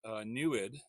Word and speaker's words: NEID: mirror there, is using an experiment called NEWID, which is spelled NEID.